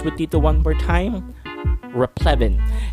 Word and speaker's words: replevin: Replevin. And if you did not catch that, there is a short E sound, Evan.